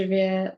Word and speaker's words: vais: Je vais manger au restaurant. So you know, je vais. Vais is V-A-I-S. The S is silent.